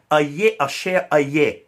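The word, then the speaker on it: אהיה אשר אהיה: he said I am who I am the Hebrew would say a share a year a share I'm sorry a year a share a year this is how they say it in Hebrew I am who I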